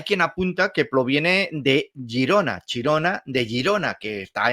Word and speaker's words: Girona: Girona en lugar de la pronunciación catalana que es fonéticamente Girona como digo así es otros expertos